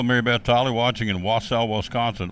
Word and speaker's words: Wausau: Hello, Mary Beth Tolley, watching in Wausau, Wisconsin. Wausau? See, how do you say that? W-A-U-S-A-U. Wausau? I guess it's Wausau, Wisconsin.